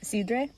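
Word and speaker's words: sidra: It was in Cider Alley, or as they pronounce it in Asturias, Sidre.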